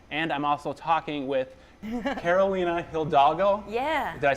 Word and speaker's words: Carolina Hidalgo: I'm talking with Frank Conniff and Trace Beaulieu from the MADS are back, and I'm also talking with Carolina Hidalgo.